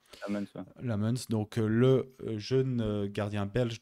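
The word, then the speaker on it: Lammens: Euh l'arrivée de Lemons ou Lamons, je sais pas comment toi te dis que c'est Lamons qu'il faut prononcer. Lam Lamuns.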